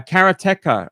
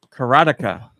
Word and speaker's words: Karateka: to do that uh karateca or karateka which the developers say both ways um I hate it